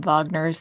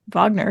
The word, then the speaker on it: Wagner: And while I appreciate the pronouncing the W in the more proper German, you gotta get the vowel right then.